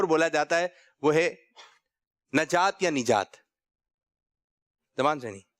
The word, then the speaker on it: نجات: نون کے نیچے زیر. چلو آپ. نجات. آپ نجات. کھڑے ہو کے. نجات. نجات. کچھ لوگ کہہ رہے ہیں نجات اور کچھ لوگ کہہ رہے ہیں صحیح تلفظ ہے نجات.